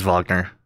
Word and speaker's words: Wagner: Yeah, it is Wagner because it's German.